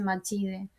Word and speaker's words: Macide: y la madre de Akin se llama Macide, ¿no? Macide se escribe, pero creo que se dice Machide.